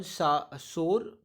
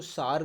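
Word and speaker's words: sore: ऑन सोर, कुछ लोग इसको सार प्रोनाउंस करते हैं पर मेरे ख्याल से सही प्रोनाउंसिएशन सोर होगा।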